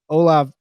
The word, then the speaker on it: Olave: But I think your Chris Olave pick for number 18 to the Saints, I